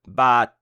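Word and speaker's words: บาท: Consonne initiale B, voyelle A long et consonne finale T. Donc bat. Vous l'avez reconnu, c'est la monnaie. Il n'y a pas de signe de tonalité, la syllabe est morte puisqu'elle se termine par une consonne autre, la consonne initiale est moyenne, donc le ton est bas.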